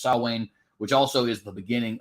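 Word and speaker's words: Samhain: salwain which is actually it looks like Sam Hayne but it is actually pronounced salwan which also is the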